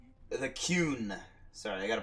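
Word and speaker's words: Qun: Man, you learn a lot about the coon. The Kuhn. Sorry, I gotta pronounce that correctly.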